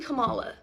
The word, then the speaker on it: Kamala: So, yeah, I'm voting for fucking Kamala. All right, we're back on the same page. It's pronounced Kamala, though.